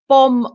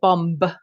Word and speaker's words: bomb: is om um and it sounds like bomb without the B because the B is silent we don't say bomb bomb it's just bomb so think um um